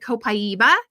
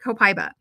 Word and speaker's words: copaiba: Some people pronounce it copaiba and some people pronounce it copiba.